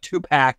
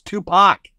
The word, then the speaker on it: Tupac: been made in the Tupac Shakur case that's right for all you amateurs out there it's not too packed it's Tupac we know better all